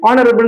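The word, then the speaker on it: honourable: பரட்டஸ் இன்ஹரபிள் இங்க பாருங்கரபள் இது வந்து நிறைய பேருஹரபள் ஹனரபில்னு உச்சரிப்பாங்க அது ஆக்சுவலி ராங் ஓகே இங்க வந்து எ சைலன்ட் அப்படின்னா இந்த லெட்டர் இல்லாம இருந்தா நீங்க எப்படி வாசிப்பீங்க ஹனரபிள் தான வாசிப்பீங்க அப்ப இதுக்கு முன்னாடி ஆன்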